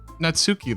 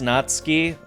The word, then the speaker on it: Natsuki: natski I've been saying natsuki this whole time God damn it it technically it is natski and I always said natsuki for a long time